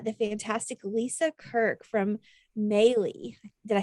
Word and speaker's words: Maylis: fantastic lisa kirk from maylie did i say that right lisa maybe rhymes with daily yeah and as our